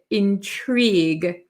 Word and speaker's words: intrigue: Intrigue. So it looks like intrigue. It looks kind of funny at the end with the GUE, but we pronounce it intrigue. Intrigue. We don't pronounce this U or E really.